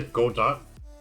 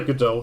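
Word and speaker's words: Godot: of praise for godzilla i keep wanting to say go dot but i guess the t people say goodell the t silent speaking of that something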